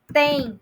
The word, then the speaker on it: têm: Vocês têm a mesma pronúncia, porém eu vou utilizar o acento circunflexo para escrever, mas é a mesma pronúncia.